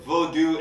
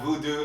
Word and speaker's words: vodou: y'all did y'all catch how he said vodou and not voodoo it's very important that we pronounce it right just because it is a pejorative to say it voodoo and just learning about